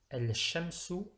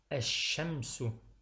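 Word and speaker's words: الشمس: Pour dire le soleil, j'utilise donc l'article el, mais je ne dirai pas el shamsu, mais plutôt ash-shamsu. Ash-shamsu. Donc je ne prononce pas le lemme de l'article el.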